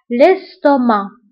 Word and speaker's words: l'estomac: فبالنسبة للاستومك نكتبوها بالسي في آخر الكلمة ولكن ما كنطقوهاش، l'estomac.